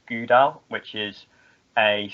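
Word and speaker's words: GDAL: got something called uh it's spelt g d a l and it's pronounced gouda which is a c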